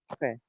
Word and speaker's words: prêt: On était, sans prononcer le T, sem pronunciar o T aqui. On n'était pas prêt.